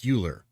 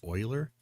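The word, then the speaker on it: Euler: Is it spelled like Uler, but it's actually pronounced Oiler? Now I can't remember. I think it's it's spelled like Uler. Leonhard. E U L E R but it's pronounced Oiler.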